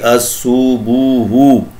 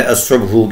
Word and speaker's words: الصبح: ادنا سی کی تھی۔ ماضی میں یہ مسلسل غلط پڑھی جاتی رہی، الصبح بجائے الصبح کے۔ حسب وعدہ اس مشہور